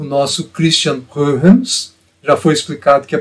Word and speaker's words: Huygens: Na verdade, o autor desse termo é o nosso Christian Huygens. Já foi explicado que a pronúncia desse nome é problemática, as pessoas acostumaram-se com Huygens, mas o correto é Huygens.